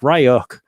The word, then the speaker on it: Ryuk: ransomware uh which uh john richie at the aha told me is pronounced ryuk but hey i don't